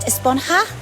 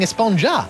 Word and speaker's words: Esponja: Actually, it's pronounced Esponja with an H sound at the end. Really? But we've all been saying Esponja.